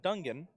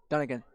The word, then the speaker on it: Dungan: throw from taylon or dungan dungan what's that done again done again thank you i knew i wasn't saying it right and then lauren carrier